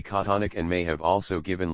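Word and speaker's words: chthonic: surface of the Earth the pronunciation of the word thonic in the Oxford English Dictionary is precisely konic and may have also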